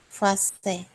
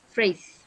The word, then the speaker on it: phrase: Fase. Phrase. Jadi Race. depannya tuh F ya. Jadi intinya Oh, kalau P sama H ini dibacanya F. Ya.